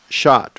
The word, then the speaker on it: Schott: And thank you for clarifying that you pronounce this Schott, right?